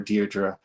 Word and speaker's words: Diedre: you a very very special guest uh Miss Dearra. And yes, that is how you pronounce her name. So make sure you get it right when you pronounce her name. It is Miss or Deerra.